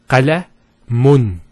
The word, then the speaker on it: qalamun: If we put two dhammas, it will be pronounced as qalamun. Qalamun. So notice the noon sound at the end. It's pronounced as the following. It's the dhamma at the end, followed by, let's take this off, because we're going to put a noon at the end. A noon. With a sukoon. So qalamun. That's how it's pronounced.